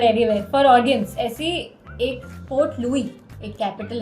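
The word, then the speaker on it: Port Louis: एक African country की पोर्ट लुईस है वो पोर्ट लुईस सारे स्टाइल्स प्रोनाउंस करते हैं ना इसलिए लुई है वैसे यार यार मुझे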